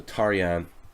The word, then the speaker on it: Tarjan: He calls himself Tarjan, but it's actually Hungarian. So Tarjan is his name if we pronounce it properly in Hungarian.